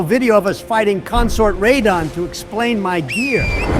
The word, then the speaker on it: Radahn: Granted, by the time we kill Bayle, our editor should be making one final video of us fighting Consort Radahn to explain my gear.